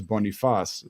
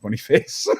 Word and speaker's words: Boniface: assumed that it was bonifas but he's Nigerian it's actually pronounced Boniface he is an incredible